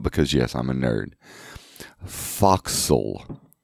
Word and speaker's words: forecastle: and then again spoil foxhole hands foxhole or I'm thinking I'm pronouncing that correctly is a very bastardized bastard Wester to digitize it's short for forecastle and the forecastle is